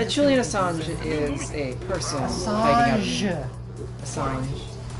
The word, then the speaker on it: Assange: Assange. You gotta be fancy and French about it.